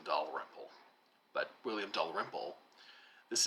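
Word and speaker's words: Dalrymple: say his name he he emphasizes a latter syllable I think he says William Del rmle I had always called him William do rmle but William do rmle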